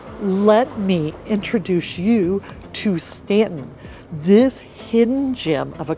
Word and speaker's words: Staunton: this adorable small town and yes it is pronounced Stanton not ston but stick around because I have got plenty